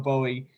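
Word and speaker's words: Gbowee: Right, and her name is spelled very different. So if you're trying to look up Lema Bowie, and I'm a terrible speller, it starts with her last name Bowie starts with a G.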